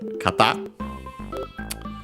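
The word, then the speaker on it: 方: In this case, required to attach the noun kata, accented on the last syllable on its own, means direction, way.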